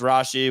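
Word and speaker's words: Rashee: and a half receptions pronounced Rashi we just went on Google and confirm that um guts's leg Derek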